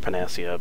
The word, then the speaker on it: panacea: there you go say uh i know it's pronounced panacea but they spelled it kind of weird there panacea uh i've never seen spelt that way it's